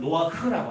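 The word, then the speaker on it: נֹחַ: 이 노아가 히브리어는 노아흐라고 합니다.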